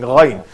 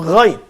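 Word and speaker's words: غين: Now let's move on to Ghain. Ghain. So say Kha. Kha. Ghain. Ghain. Reverse it. So Ghain. Ghain. Ghain. Okay. Well, this letter is pronounced using the same muscles similar to the fashion Gharib.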